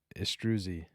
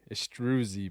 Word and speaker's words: Istruzi: maybe we can uh let's get this pronunciation because I know we went over it last time estrusy nailed it did I all right I like it okay estrusy Bryce astrusy you got it can we hear it